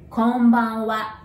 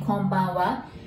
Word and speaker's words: Konbanwa: So there are five sounds and five characters. Remember, Japanese is phonetic. So that's ko, n, ba, n, wa. And we're gonna divide it into three now. Kon, ban, wa.